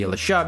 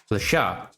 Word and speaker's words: Le Chat: And yes, I pronounce the name of the product to be Lasha because this is a French company. And apparently the correct way to pronounce Lat is actually Lasha.